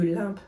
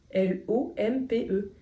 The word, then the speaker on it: lompe: J'ai toujours dit des œufs de limpe, moi. Et c'est là que je vois que ça s'écrit L-O-M-P-E.